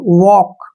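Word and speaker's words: walk: पहले क्या आया है एल जब भी के से पहले एल आता है तो एल का उच्चारण हमने नहीं करना है यानी एल को हमने पढ़ना ही नहीं है सीधा पढ़ेंगे टॉक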